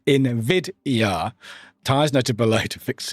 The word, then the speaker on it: NVIDIA: It should be said as NVIDIA.